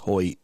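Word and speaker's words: Hoecht: Hoy. Yeah, I think it's pronounced Hoy, even though it's H O E C H T or something like that, right?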